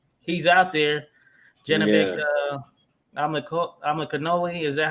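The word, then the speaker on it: Alimkhanuly: Amakanoli, is that how you say it? Amakanoli? Alim Kanuli. Aleem Kanoli.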